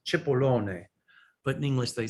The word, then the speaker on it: Cipollone: Actually, in Italian, it's pronounced Cipollone. But in English they say Cipollone.